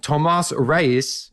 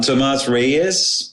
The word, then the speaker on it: Tomas Reyes: the name so you Gentlemen please say your names as they are meant to be said so our listeners can find you on the web I'm Tomas Reyes so you didn't pronounce